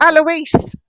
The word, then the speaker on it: Alois: Hickor's brother, and I don't know how to pronounce this, A L O I S. Alisa, I'm not sure. Oh, Eloise.